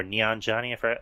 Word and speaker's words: Kumail Nanjiani: Kumail Nanjiani, or Nanjiani, that's how you say his name.